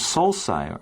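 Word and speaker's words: sulci: the round features and the second one is solai are the Deep grooves that cover the surface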